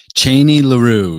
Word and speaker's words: Cheney LaRue: Cheney LaRue. Yep. What can we spell that for the viewers?